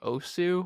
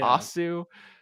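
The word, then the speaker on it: osu!: Nightcore has been the game OSU or Os however you want to pronounce it yeah ASU um point being a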